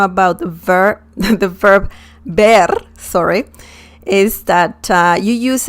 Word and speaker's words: ver: v or a b just pronounce it as the letter b as in bell okay now let's learn the differences the first thing you need to know about the ver the verb ber sorry is that you